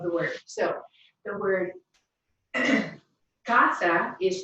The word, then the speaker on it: casa: of rule number 1, since it ends in an N, an S, or again, in this case, a vowel, the natural stress will be on the next to last syllable.